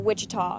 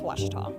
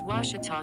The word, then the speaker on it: Ouachita: for Washita Baptist University back in Texas everybody pronounces it Wichita but really it's Ouachita Washington how would you pronounce it it's Ouachita Baptist University get it right it's Ouachita people